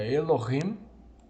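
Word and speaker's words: אֱלֹהִים: Bárbara a elorrim os diz Elohim pronúncia recomendável a elorrim e e e e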